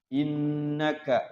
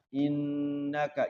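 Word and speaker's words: إنك: Innaka ada nun tasydid. Nun tasydid itu apa namanya? Gunnah ya. Setiap ada nun tasydid dan mim tasydid di dalam ilmu tajwid namanya gunnah. Jadi dibacanya gunnah. Innaka, jangan sampai innaka, jangan begitu. Tapi innaka. Nah, nunnya digunnahkan, ditahan. 2 sampai 3 ketukan.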